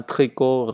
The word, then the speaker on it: tricot: Je dois dire riz sans S, riz, vert, blanc, habit, vêtements, tricot, gants. Les lettres à la fin du mot ne se prononcent pas et donc qu'on ne prononce que le principal.